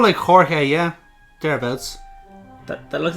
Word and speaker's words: Jorge: Hey he's called Mike Jorge yeah thereabouts that looks like George it'sit's the Spanish for George but you're supposed to pronounce it as Jorge don't look at